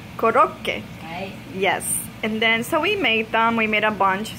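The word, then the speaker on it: コロッケ: How do you pronounce it in Japanese? Korokke. Korokke.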